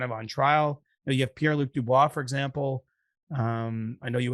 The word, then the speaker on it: Pierre-Luc Dubois: You have Pierre-Luc Dubois, for example. I know you would have pronounced that a little cleaner than I did, but Pierre-Luc Dubois.